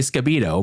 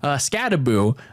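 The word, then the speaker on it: Skattebo: I don't know why I keep getting his name wrong. I keep saying Scabito, but anyway, Scadaboo combined for 5 touchdowns,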